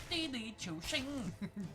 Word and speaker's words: Didi Chuxing: But it's all upside down now because there's this company called Xing, which is not how how you pronounce it all. It's Didi Chuxing.